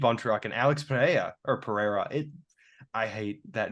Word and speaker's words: Pereira: I think it's because I've always thought it was pajeda but then John annik told me that it's Pereira yes but there's still some of them that pronounce it pajeda yeah I know but